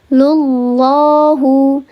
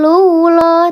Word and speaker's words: Allah: Qala innama yataqobbalullahu lullahu ada lafzul jalalah sebelumnya harakatnya dommah. Maka lafzul jalalahnya ini dibacanya tafhim atau tarqik. Dibacanya tafkhim sahih. Masyaallah bukan lulah tapi lullah. Lullah diangkat pangkal lidahnya.